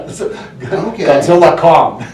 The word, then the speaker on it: Godzilla x Kong: Producers said that uh the x is silent is silent yeah Godzilla Kong Godzilla Kong the new